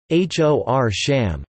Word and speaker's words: Horsham: Darby the county town of Derbyshire pronounced Derbyshire Horsham after Horsham pronounced hor sham England Lancaster County and Lancaster after the city